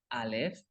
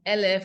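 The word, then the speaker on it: אֶלֶף: We have a double segol. So if you were to say aleph instead of elef, you would be saying the actual letter instead of 1,000.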